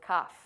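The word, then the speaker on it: כ: looks like this this letter is called cuff or it sounds like cough actually I like cost but it's cuff it is like this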